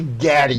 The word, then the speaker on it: Gaddy: was just like okay I believe it's actually Gaddy Gaddy that poor kid nobody can say his name right I'm thinking of John